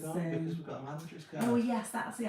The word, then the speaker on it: Landry's: I keep saying laundry. That's how posh we are. I'm calling it a laundry card. Because I feel like the way it's spelled, like my mind just works. Yeah. And just automatically reads what it think it says, and to me it looks like it says laundry, or it's is it landry?